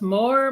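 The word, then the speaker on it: Moher: we went to the cliffs of mo was it pronounced more more yeah yeah some more and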